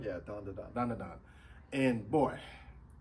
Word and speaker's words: Dandadan: Dan Da Dan? Yeah, Dan Da Dan.